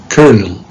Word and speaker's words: colonel: excellent how about number four how do you pronounce this word take care colonel colonel smith in the u.s english it's colonel okay so ken smith built the house in